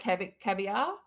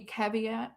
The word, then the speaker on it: caveat: go to the pronunciation it's like cave at which is really what